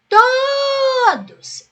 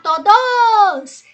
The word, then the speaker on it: todos: Então eu vou chamar assim, ó, todos. Eu não vou chamar todos. Então a sílaba que se prolonga é a tônica.